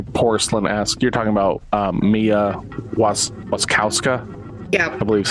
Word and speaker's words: Wasikowska: You're talking about Mia Wasikowska. Yeah, I believe is how you pronounce whatever her name is.